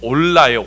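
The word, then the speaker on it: עולה: 자,이 번제라는이 번역된 단어가 히브리어로 올라예요. 올라. 자, 그런데 이게 여러분 우리나라 말하고 비슷합니다. 우리나라가도 올라간다라고 그러죠. 자, 그래서 발음이 비슷합니다.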